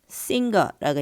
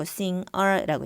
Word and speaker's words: singer: sing 같은 경우에 우리가 보통 singer라고 얘기 안 하고 singer라고 얘기를 하죠.